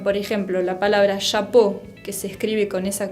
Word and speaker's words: chapeau: Chapeau significa gorro. Bueno, chapeau. No quiero escuchar chapau. Es chapeau con una O.